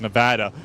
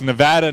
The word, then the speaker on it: Nevada: Galvanize the people of Nevada also I I was corrected by you your wife before it's Nevada not Nevada I'm sorry I'm trying to